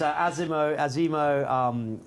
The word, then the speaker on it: Azimo: That's Azimo, we don't mind.